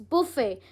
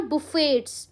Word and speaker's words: buffet: इट्स बुफे, इट्स नॉट बुफेट्स। बहुत लोग टी को प्रोनाउंस करते हैं, इट्स बुफे। बुफे कह लो, बुफे कह लो, इट कैन be pronounce both the वे।